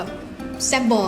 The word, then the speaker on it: Sabor: ค่ะ ร้าน นี้ ชื่อ ซาบ บราซิล s a b o r บอ คน จะ ชอบ อ่าน ว่า แบบ แซ่บ บอ อะไร เงี้ย แซ่บ บอ ก็ ได้ เอ่อ แปล ว่า รส